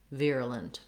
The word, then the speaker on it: virulent: I usually try to use that for that unstressed schwa, so you can think about it really sounding like It's very short and reduced vowel. Virulent. Similarly reduced, we have another schwa for our E in the last syllable. And in this case, we almost leave that vowel out entirely. You want to go as quickly as you can from your L sound to your N sound.